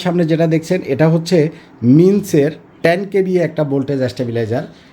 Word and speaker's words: MINGCH: এই যে আমার সামনে যেটা দেখছেন, এটা হচ্ছে মিন্সের 10 kVA একটা ভোল্টেজ স্ট্যাবিলাইজার। এটার ব্র্যান্ডটা হলো MINGCH। এখানে জিটা উচ্চারণ হবে না, মিন্স হবে এটার নামটা।